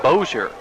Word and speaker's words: Bossier: This gives us a chance to mention that we had been mispronouncing the name of the town the Louisiana All-Stars hail from. It's Bossier, and that's somewhere outside of Shreveport, Louisiana.